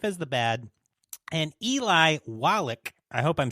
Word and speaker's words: Wallach: Lee Van Cleef as the bad, and Eli Wallach, I hope I'm saying that correctly, as the ugly.